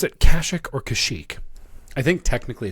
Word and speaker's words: Kashyyyk: Do you pronounce it Kashyyyk or Kashyyyk?